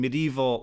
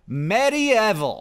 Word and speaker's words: medieval: Don't go around pronouncing medieval like medieval. You'll never learn how to spell it that way. You gotta say medieval.